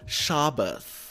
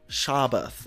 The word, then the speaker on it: Shabbos: Say it like this: Shabbos. Shabbath, okay?